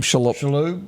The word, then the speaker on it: Shalhoub: How do you pronounce his last name? Shalhoub.